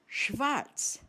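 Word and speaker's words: schwarz: Just like the initial sound of the English word shower.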